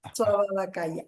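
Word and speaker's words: Svābhāvikakāya: ese nombre es que la V en sánscrito no existe. Es una eh es una u. Ah, su ababacalaya. Suabacaya.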